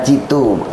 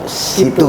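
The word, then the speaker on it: cito: Bukan citu, situ berarti. Situ. Apa situ apa citu? Situ apa citu? Istilahnya. Apa tuh gambaran? Kalau dijelaskan apa? Tulisannya citu ya. Tapi bacanya situ.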